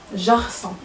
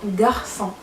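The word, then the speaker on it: garçon: باغ اكزومبل مثلا غارسون، ملي كاينه غارسون لو مو غارسون ولد، كاينه جي ومن موراها ا، ما غنطقوهاش جارسون، لا كنطقوها غارسون.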